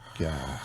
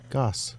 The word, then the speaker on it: Gass: Goss. Yeah. So Goss. did I say it wrong? Gas? No, it's gas. Goss.